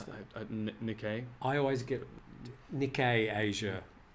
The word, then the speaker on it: Nikkei: How do you pronounce that? Nikkei.